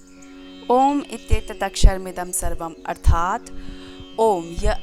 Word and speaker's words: ॐ: ओम के 3 भाग हैं, अ, उ, म।